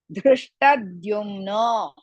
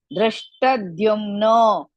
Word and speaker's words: Dhrishtadyumno: Dhrishtadyumno. Dhrishtadyumno. You should not say Dhrishtadyumno, no. In between Drishta and Dyumno, add half the Dhrumna.